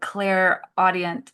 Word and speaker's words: clairaudient: So you said you had several signs and you had these like clairaudient audience, or how do you say it?